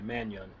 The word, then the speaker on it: Mannion: It's spelled Manon, but it's like you put a Y in there, Mannion.